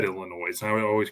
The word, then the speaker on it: Illinois: respond to the word Illinois the S is is is silent yeah I know that